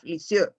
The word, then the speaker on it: Lisieux: say teres of issue when i was studying french to pronounce this sound we were told you put your mouth as if you were going to say oh and you say e and what comes out is uh okay neither here nor